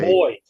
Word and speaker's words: buoy: A boy. It's a boy. Not a boy. It's not a little boy. It's a boy. It's got a silent U in it.